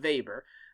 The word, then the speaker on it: Weber: power so max weber the way to say his name is max weber not weber but weber weber gives us a